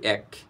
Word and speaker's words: এক: এটির প্রকৃত উচ্চারণ হচ্ছে এক।